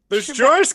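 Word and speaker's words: Joruus: No, it's Joris. It's Cardass, isn't it? Oh, George Cardass. And then there's Joris Cabalth and George Cardass.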